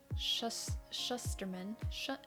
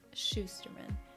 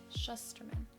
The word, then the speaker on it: Shusterman: Okay, I thought it was Schusterman, but then I saw other people, and in the audiobook they pronounce it differently. So I think it's Shusterman. There's not another H though, so it's hard for me to say.